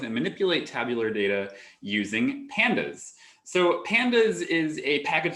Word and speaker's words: pandas: panel data um so some programmers pronounce this differently they say pandas um or something like that i say pandas um because i like panda bears and i like to